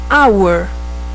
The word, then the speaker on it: hour: Por exemplo, a palavra hour, hora em inglês, ela tem o H dela soa como um H mudo.